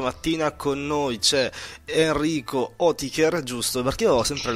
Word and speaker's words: Oetiker: Sarebbe Oetiker, sì. Che sarebbe il dittongo OE, in realtà italianizzato è Etiker, quindi per mettere Etiker.